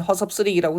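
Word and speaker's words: 허섭스레기: 그래서 발음은 허섭 쓰레기라고 되지만 표기는 스 이렇게 되는 거예요.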